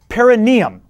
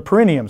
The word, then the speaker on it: perineum: place on you called the perineum or the perenium some people say either pronunciation is correct it's the ver the